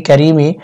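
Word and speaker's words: كريم: হয় মিম জের মি কারিমি ওয়াকফের সময় মিম সাকিন হবে এবং এখানে তিন আলিফ লম্বা করতে হবে উচ্চারণ হবে কারীম ইয়া আইয়ুহাল ইনসানু মা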